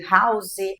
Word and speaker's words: house: E aí é que em português o h Inicial é mudo mas em inglês ele faz toda a diferença a gente pronuncia ele na grande maioria das palavras como aquele r do Carioca como a gente fala porta Então as palavras ficam